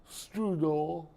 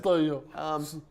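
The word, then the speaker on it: Steudel: as stated by Kirk Strudel, the director of MDOT. Did I say his name right? It's Steidel, but Stale. Sorry, Mr. Stale.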